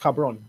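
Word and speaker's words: cabrón: just gonna okay bro bro no no it's pronounced cabron oh yeah yeah cabron yeah lo siento this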